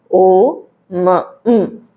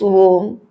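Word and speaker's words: ॐ: But when you pronounce Om, you should not say this Om. Because according to the rules of Sandhi, A and U, it makes the combination O.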